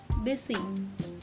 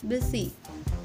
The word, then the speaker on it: busy: The letter U is there in both the letter, but in the word busy, the letter U sounds like I. Busy, busy.